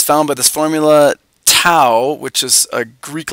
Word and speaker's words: tau: found by this formula tau which is a Greek letter it rhymes with now anyway it's for torque